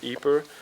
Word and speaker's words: Ypres: Because during the First World War here in Ypres, or in Ypres, it depends on the pronunciation, you have the first utilization of chemical Yes.